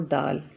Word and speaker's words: دال: زبان کا سرا اوپر کے دو دانتوں کے ساتھ لگے تو یہ حرف ادا ہوگا. تا اور دال ٹھیک ہے ایک جگہ سے یہ ادا ہوتی ہیں. pronounced from the tip of the tongue touching the roots of the top two front teeth.